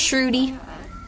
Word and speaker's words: Sruti: It's pronounced Sruti, but a lot of people say it a lot of different ways, so I will respond.